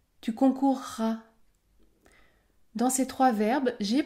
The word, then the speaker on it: concourras: ou concourir par exemple dans le futur de ces verbes vous allez prononcer un r double écoutez bien je courrai je courrai il acquerra il acquerra tu concourras tu concourras dans ces trois verbes